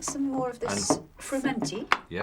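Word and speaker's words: frumenty: Would you like some more of this fermenti? Yes. Is that the right pronunciation? Yes, it is. Actually, sometimes people call it firmity and it's spelled a different way, but quite often that would mean the sweet one.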